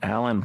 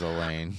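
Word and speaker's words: Alain: And then Allan Prost or Elaine Prost, I think is how it's pronounced. It is Elaine.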